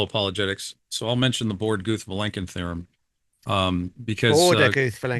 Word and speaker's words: Borde: are but borden borda borda okay um thank you for sharing that I all this time I'm getting that from Alan Guth because because he pronounced it borda so I'm pronouncing it bord okay